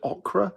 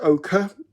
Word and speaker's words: ochre: I used to call it okra, which I believe is the vegetable. And it's ochre.